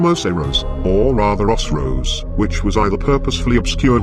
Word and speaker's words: Oceiros: So, taking that into account, the correct pronunciation would be as Osiros, and Osiros is actually